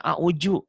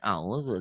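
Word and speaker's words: أعوذ: Orang Sunda orangnya umumnya bacanya a'udhu. Orang Betawi umumnya a'uju. Orang manapun yang belajar a'udhu dal.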